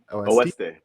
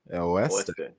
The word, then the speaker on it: Oeste: Oeste. Oeste. It's just Spanish for West, just so people know.